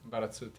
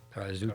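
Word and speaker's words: Barazzutti: Berazzuti, yeah. Berazzuti. Corrado. But help me with the pronunciations.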